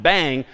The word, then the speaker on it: bang: Using the exclam exclamation point pronounced bang is how you invert logically certain things.